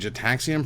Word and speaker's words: Gitaxian: It's a It's a hard G Gitaxian.